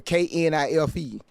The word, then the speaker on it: knife: Why is knife spelled with a K? If the K is there, should it be knife? If it's silent, why the is it there? Just let it be N I F E.